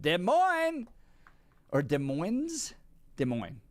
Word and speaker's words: Des Moines: Des Moines. You don't pronounce the S. No, you don't do the S. No, just Des Moines.